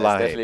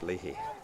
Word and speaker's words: Leahy: I started with Leahy, but I'm going with Leahy now. Definitely Leahy.